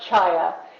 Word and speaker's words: Chaya: It's pronounced chaya. And Chaya. chaya, yes, it's a word that means life in a lot of different languages.